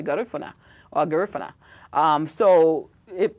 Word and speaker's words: Garifuna: that g the people most people pronounce it garuna but I say garifuna or garif um so